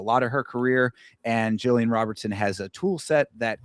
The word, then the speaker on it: Jillian Robertson: I too am taking Jillian Robertson, an honorary Floridian, even if she is from Canada.